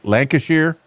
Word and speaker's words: Lancashire: to know and I know I'm probably gonna pronounce it improperly. Lancashier.